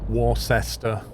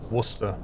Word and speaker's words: Worcester: problem easy everything and Worcester is not Worr sester a war sester Shire its Worcester and Worcestershire don't pronounce them